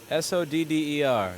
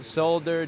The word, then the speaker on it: solder: supposed to pronounce it it's only in Australia and Europe that they pronounce the L which is absolutely unnecessary can you please say the word properly sold there just for the European